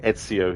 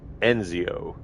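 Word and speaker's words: Ezio: names incorrectly on purpose so instead of saying iio he's like enzio so it's so funny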